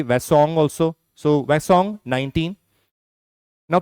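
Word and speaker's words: Hwasong: Many people pronounce it differently. H is silent, so it is basically Wasong also.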